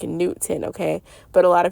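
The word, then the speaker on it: Neith: Newt is how you pronounce it, like Newton, okay? But a lot of people call her Nut, and she is also directly connected to Neath. But she told me to not pronounce it Neath, it's pronounced Newt.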